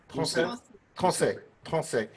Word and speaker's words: Tronçais: One is in Limoges, and it's called Limousin oak, and the other one is it pronounced Tronçais? Tronçais.